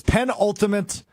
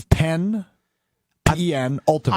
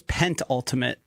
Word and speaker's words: penultimate: Packers has written his penultimate. Murphy takes five. Is there a ten penultimate? You just didn't pronounce it. It It's pen ultimate. I thought it was pent ultimate. It is penultimate.